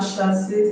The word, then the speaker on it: chassis: Actually, we have chassis. The CH in chassis is pronounced sh. C, we have chef.